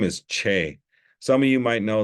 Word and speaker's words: Che: Anyway, and it's spelled CHE, but it has that cool line above it, that like you'll see in Spanish and stuff. So his name's Che. And he gets called Chi and and a lot of things. Once in a while, he gets just right out the box, they call him Che.